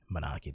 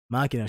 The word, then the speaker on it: Makina: Manaki, that's not even how you say her name. Makina Shinozaki's apartment.